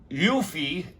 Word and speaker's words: Yufei: I'm going to spell it for you. It is Chinese. It's Yufei, Y-U-F-E-I, not Sue.